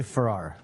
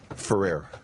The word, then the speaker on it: Ferrer: I say Ferrer. Ferrer. Ferrer. I think I might have won that one. Ferrer. Got to pronounce that E, right, But Alex?